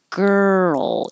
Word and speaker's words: girl: ger gur and then the movement from the r to the L girl is what makes the roll noise you also don't have